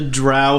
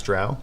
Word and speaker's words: drow: i also don't know how to say the drow home city so let's roll is it isn't it dro no it's drowning it's drow yeah right it doesn't matter because it's rousey